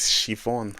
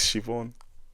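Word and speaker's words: Siobhán: Now speaking of accent, language, and the rest, please, for the love of God, do not try to pronounce an Irish name the way it's spelled.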